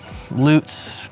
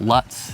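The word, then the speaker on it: Lutz: more town we have loots loots people call it and they sit talk about Luts and we get to tell them how to say it it's always a fun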